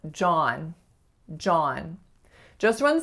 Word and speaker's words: John: John. Just one syllable, but the most common mistake I hear is with the vowel ah, not becoming ah enough and being more of a o. So it's not John, it's really John.